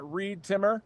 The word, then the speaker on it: Reed Timmer: You can follow me on social media at ReedTimmer rhymes with weed trimmer.